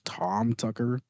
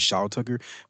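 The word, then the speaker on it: Shou Tucker: I always thought it was Tom. So I think I was saying I was saying his name wrong because I thought it was Tom Tucker. It was Sha Tucker.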